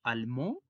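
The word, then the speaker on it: allemand: almón ellas hablan alemán el gentilicio es alma con una d al final que no tiene sonido porque está al final y si lo decimos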